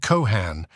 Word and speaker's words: Cohan: Cohen he sought, and 1 swore he was Irish, and that his name was spelled Cohan and pronounced with an accent on both syllables.